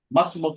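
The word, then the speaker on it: ما اسمك: माँ इस्मुकी मस्मुक की अलिफ, अलिफ साइलेंट कर दीजिए, मस्मुक।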